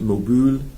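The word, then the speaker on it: Möbel: They would maybe pronounce it Mobul, if they want to use the correct German pronunciation, which, by the way,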